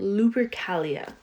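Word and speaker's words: Lupercalia: this is an ancient Roman fertility festival called luri Calia oh so I just wanted to make sure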